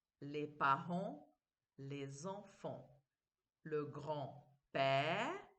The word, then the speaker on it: grand-père: Le grand-père, je ne prononce pas le D.